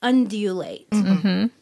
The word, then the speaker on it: undulate: like yeah undulate yeah is that what a g no it's with a D okay so I'm saying it correctly undulate okay another word wyvern